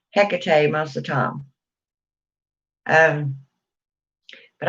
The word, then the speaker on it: Hecate: my goddess picade um or hecate heck of tea i'm getting so i'm just gonna i'm getting tired of you know saying all the ways to pronounce it i call her hecate most the time um